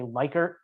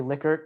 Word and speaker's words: Likert: pronounced uh dr licket liquor it's name is pronounced liquor everybody seems to say lyker it is actually likert one of my professors was his student she